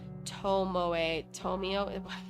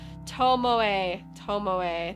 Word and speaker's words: Tomoe: Tomio, I'm saying it wrong. Tomoe, thank you.